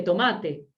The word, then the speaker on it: tomate: No es lo mismo tómate, ¿sí? Que tomate. Tomate, la verdura, y tómate tu tiempo.